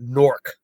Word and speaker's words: Newark: than we are and you don't call it Newark you call it nork lrk okay I can